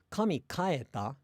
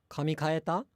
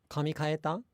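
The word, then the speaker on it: 髪変えた: example sentences there, but the incorrect pronunciation would be kami kita, or not kita, kami kaeta. That's, did God go home? Kami kaeta. I've said that before to a friend, whereas the correct pronunciation, it would be closer to kami kaeta, kami kaeta.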